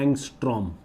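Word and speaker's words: ångström: Equal to, ऐसे बोलते हैं इसको, ये ऐसे प्रोनाउंस करते हैं एंगस्ट्रॉम, ठीक है, ANGSTROM, नोट कर लो।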